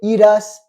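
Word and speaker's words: irás: IR très bien IR attention iras d'accord tu dois pas prononcer autant la r ok IR iras IR très bien très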